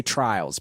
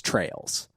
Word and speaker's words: Trails: I always want to say Trials, but it's Trails.